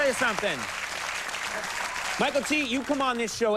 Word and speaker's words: Mykelti: it's one word yeah it's m y i k l TI it's pronounced Michael T right but people mess